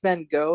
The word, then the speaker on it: Van Gogh: was wasn't seen guys was pronounced like it's like Van Go.